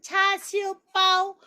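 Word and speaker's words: 叉燒包: 그래서 이 이름은 차시우빠오. 빠오는 빵이라고 말씀드렸죠. 차시우빠오. 제가 하는 발음을 제가 안 들려도 따라 하셔야지 입에 자꾸 붙어요. 차슈빠오.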